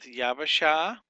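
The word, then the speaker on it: יבשה: So this is 3 syllables: yab, ba, sha.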